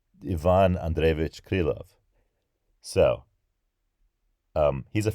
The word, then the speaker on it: Ivan: Oh, and also, if I'm not pronouncing Ivan Andreevich Krylov in the appropriate way, let me know as well. I noticed that it was Ivan. That's in English we say things like Ivan, like Ivan the Terrible.